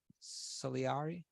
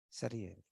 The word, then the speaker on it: Salieri: was the other one solieri who can help me celery right so so if you say how do you pronounce it salieri okay so so in